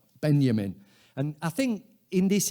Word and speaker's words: Benjamin: borrowed this idea from Walter Benjamin or Benjamin I should pronounce it properly but Benjamin and I think in